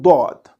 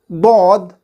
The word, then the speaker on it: ض: Lughatul Dwad.